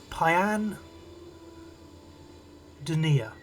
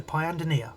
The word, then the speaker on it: Pyandonia: So the correct pronunciation is um it's Pyan Denia. That's how you pronounce it. So Pyandonia, that's where she's from.